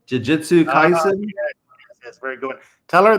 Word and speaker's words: Jujutsu Kaisen: Jujutsu Kaisen. Jujutsu Kaisen.